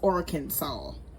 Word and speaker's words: Arkansas: And it actually is pronounced Arkansas.